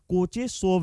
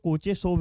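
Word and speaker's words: Kocheshkov: कोचेसोब reaction. यहां पे के साइलेंट है। तो इसको हम लोग कोचेसोब रिएक्शन बोलते हैं।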